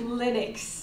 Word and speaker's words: Linux: It's Linux.